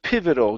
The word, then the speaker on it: pivotal: one is the word pivotal give me a good V sound here PIV pivotal pivotal good one more time